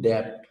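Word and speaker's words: debt: हुआ है it include डेप इसको डेप पढ़ा जाता है डी ई बीटी एस नहीं पढ़ता साइलेंट डेप डेप्थ मीस देवा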